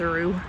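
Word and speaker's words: Rugh: architect was hb rue it's spelled r-u-g-h so i don't think it's like rough or anything i'm pretty sure it's a roux but he designed a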